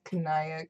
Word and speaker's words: Kanaya: Kind of, but even people on the Homestuck team argue about name pronunciations with each other. Oh, really? Yes. Your Kanayam is Kanaya Kanariam.